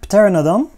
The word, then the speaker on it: Pteranodon: wanted a mark stand Pteranodon will buy our trades by the way I I pronounce it with the p but I know in English the piece would be should be silent but I'm using the